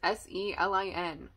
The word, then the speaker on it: Selin: is new um selin I actually don't know how to pronounce the main character's name it's s-e-l-i-n selin the daughter of Turkish